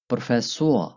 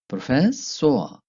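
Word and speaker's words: Professor: फिर है हमारे पास लफ्ज प्रोफेसोआ। प्रोफेसोआ, जिसको इंग्लिश में प्रोफेसर या उर्दू में भी प्रोफेसर ही कहते हैं।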